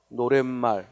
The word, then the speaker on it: 노랫말: 만났고 앞이 봄이니까 아쉬워 봅시다 이게 아니라 발음이 발음이 어떻게 되어 노랫말 하고 니은 이 첨가 됐기 때문에 그래서 이